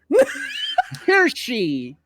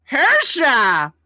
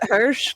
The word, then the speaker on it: Hirsche: Hersha. What? There you go. There you go. He got there eventually. I pronounce it Hirsch because it's a lot easier for people to pronounce.